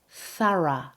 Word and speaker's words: thorough: The word is thorough. The stress is on the first syllable and the first O becomes a, th. Thorough. Now, in American English, it's pronounced with a weak O, more like thorough.